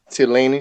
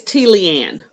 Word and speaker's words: Tleanne: you can find her works at fellaini speaks dot com did that pronounce that right it's t leanne move out of the way stupid t leanne